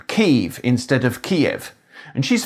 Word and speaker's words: Kyiv: the sound sequence yi, like the beginning of the English word yeast.